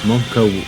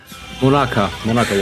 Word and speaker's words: Monaka: raspberry sauce, salt, and Monka water. I don't know what that is. You say Monka water? Yeah, it literally says Monaka water.